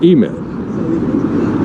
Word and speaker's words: EMED: Even though it looks like IMED, they pronounce it EMED.